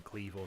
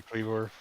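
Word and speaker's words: Kleavor: believe you every time you say Cleavor. It's. I believe there's an O before the R, and that's why I'm saying it that way.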